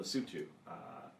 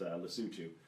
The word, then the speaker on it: Lesotho: that I am involved in in Africa and Lesotho which he may have thought was pronounced lesotho which I first thought and once